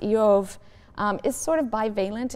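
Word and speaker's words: אִיּוֹב: purposes the name job which in Hebrew is pronounced IO um is sort of balent in meaning it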